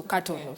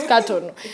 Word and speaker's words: Katono: So I tell them, you think I'm Amganda because of the way you pronounce my name, but my name is a Mogweri name, so Katono. Stop saying it as in like in English, because it's Katono.